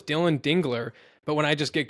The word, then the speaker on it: Dingler: Are you aware that you mispronounce Dylan Dingler's last name? Dude, I write it down. I write it down every time. And every time I say it's Dingler, somehow an extra L just gets thrown in there every time I say it.